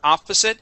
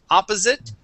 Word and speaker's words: opposite: just had the word opposite um that s instead of being opposite opposite it is opposite with a uh unvoiced s okay opposite okay